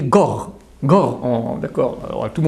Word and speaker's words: Gore: Et c'est intéressant qu'au niveau de la bonne prononciation juive, un guimel avec le dagesh, avec le point tonique, c'est G, mais sans c'est R. Donc tu dis Gore.